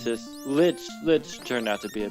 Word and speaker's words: Lich: It's just Lich turned out to be a bitch. He did. It's funny that his name rhymes with that.